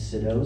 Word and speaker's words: Sydow: My last name is Sido, spelled S Y D O W. They actually pronounce it, but they pronounce it wrong.